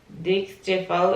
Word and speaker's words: Dixtefo: I believe you pronounce the name Dixtefo. It's D-I-X-T-E-F-O.